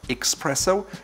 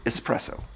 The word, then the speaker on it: espresso: the way it's written there's no X in there so it's not expresso its espresso 15 it's a latin